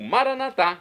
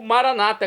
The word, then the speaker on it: Maranata: sabe tudo e agora eu clamo maranat como dizemos nós católicos ou Maranata como dizem nossos irmãos de Ades evangélicas protestantes não importa a pronúncia o significado é o mesmo vinde Senhor Jesus um